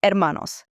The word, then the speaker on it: hermano: Brother is hermano, and sister is hermana. Remember that silent H at the beginning.